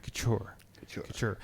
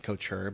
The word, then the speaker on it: Couture: I'm trying to say the T right. I know I do it wrong. It's impossible for me to do. Well, first of all, do you pronounce the T right? Couture.